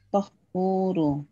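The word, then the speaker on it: طهور: Atto, ini polanya fa'ulun. Ini sighat mubalaghah nih. Fa'ulun seperti ghafurun. Berarti bacanya gimana? Watuhuru. Watuhuru. Tahuru. Tohuru.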